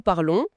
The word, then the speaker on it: parlons: Donc les seules terminaisons qu'on entend vraiment différemment, ce sont celles de "Nous parlons" Oui. Avec le son on et vous parlez avec le son e précisément. Ce sont les deux seules formes où la terminaison change vraiment la prononciation.